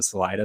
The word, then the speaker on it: Salida: never been to salida again we are butchering the sort of spanish pronunciations but when you get to salida that's how the locals pronounce it so in salida there's